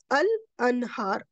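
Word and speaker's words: الأنهار: And here you will say al anhar al. I pronounce the lam, so they both are definite.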